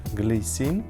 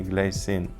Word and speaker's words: Glycine: Часы из франкоговорящей части Швейцарии, поэтому они произносятся скорее Glycine, но мне привычнее англоязычный Glycine. Не знаю, буду говорить и так, и эдак.